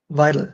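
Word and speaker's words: Weidel: Alice v v visil is it vital yes vital sorry right vital Alice vital so and um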